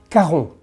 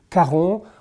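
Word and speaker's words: Caron: brand of perfumery gerald the next one is karon very simple karon with the famous puranom for a man which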